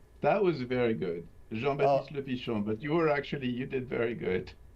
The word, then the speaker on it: Jean-Baptiste Lepichon: Did I come close in the correct pronunciation there? How close was I? That was very good. Jean-Baptiste Lepichon, but you did very good.